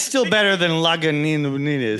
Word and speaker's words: Lagunitas: It's still better than Lagunitas. Yeah. Lagunitis. Can I get a Lagunitis? Like, no, but I can give you a pill for it.